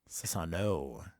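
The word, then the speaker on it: Susanoo: Sasanu, is that how you say it? Sasano. Which Sano. Sano. Sasano. Sasano. Sasano. No, not new. It's no. Yes. Sasano.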